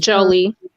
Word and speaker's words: Jolie: it pronounced Jolie connection Jolie like Angelina okay Jolie collection uh she a Gemini too right I didn't hear the last thing you said what'd you say I said Angelina Jolie so I was looking